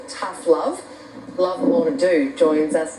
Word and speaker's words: Ndou: Actually, it's pronounced No. Sorry? It's pronounced No. No, oh, sorry, man. No, that's all right. Everybody calls me Ndou.